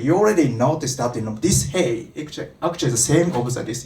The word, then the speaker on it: Hei: that you now know how to pronounce my name. Hei is actually the H-E-I, Hei, okay?